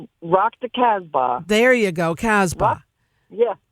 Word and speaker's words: Casbah: life so um yeah enjoy Sunday Rock to Casp say it for me I know I'm not saying it correctly Rock the Casbah there you go Casbah yeah yeah Rock the